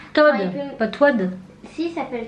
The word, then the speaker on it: Toad: Toad, pas Toad. Si, il s'appelle Toad. Non, ça s'écrit Toad, mais ça se dit Toad.